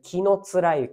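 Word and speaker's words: 紀貫之: ある木野つゆさんこれ木のつゆと読みますこの人がま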